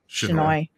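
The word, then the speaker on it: Chinoy: Shinai. Just remember that the final word rhymes with annoy.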